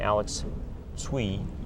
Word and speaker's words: Alex Tsui: morning uh is a gentleman from uh ramtron Alex sui did I pronounce that correctly that's correct now it's ways